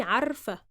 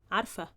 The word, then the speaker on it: عارفة: But when we say it in the feminine form, we just, say it quickly.